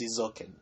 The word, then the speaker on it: Eizouken: I believe, correct me if I'm wrong, but I believe it's pronounced Eizouken.